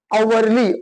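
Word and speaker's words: hourly: म्हणून अन ऑनर त्याच्यानंतर अनवरली अवरली अ पासून सुरुवात झाली जरी याची स्पेलिंग कॉजोनंट पासून असली तरी त्याचा उच्चार कॉन्सन नाही त्याचा उच्चार आहे वेल म्हणून लक्षात ठेवा डिपेंड ऑन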